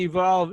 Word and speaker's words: EVQLV: the stove in nineteen contagion right anyway so evolve how do you see evolve evolving and along with a we're just going